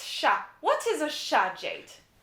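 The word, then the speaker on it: chat: then we have sha so anglophones would say shots but it's sha what is a shah jade a cat very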